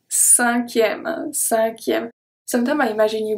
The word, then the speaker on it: cinquième: So here, the C at the beginning is pronounced as a S because we have the E after. So the E makes the C turn into a S sound, cinquième.